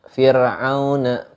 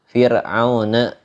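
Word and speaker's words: فرعون: Beda halnya kita membaca kalimat Fir'auna. itu tipis dibacanya.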